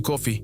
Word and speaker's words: Coffey: John responde que su nombre es John Coffee, como el café que se toma, aunque se escribe un poco diferente.